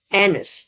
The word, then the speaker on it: anise: What pronounces this? Anise.